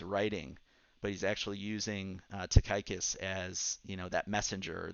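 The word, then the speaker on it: Tychicus: that is Steven Levin to gather the correct pronunciation of of Paul's follower here famous Takai kiss the dear brother and faithful servant and the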